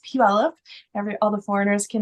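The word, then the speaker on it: Puyallup: case you wanted to know how to pronounce pup it's pronounced pup every all the foreigners can never figure that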